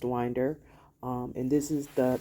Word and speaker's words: Winder: have been pronouncing it as wer but it's pronounced Winder um and this is the the high school